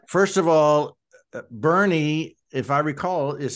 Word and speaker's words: Boerne: you would think, but you don't want to call it Boerne either. So I understand that. You'll get quickly corrected, I'm sure of that. If you say Boerne, then we're going to know you're not from here.